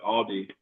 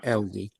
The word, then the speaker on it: Aldi: Technically, since it's a German company, you would pronounce it how they pronounce it.